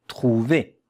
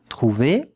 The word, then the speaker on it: trouver: With two syllables. When there is a point, yeah, a dot, it means it's another syllable.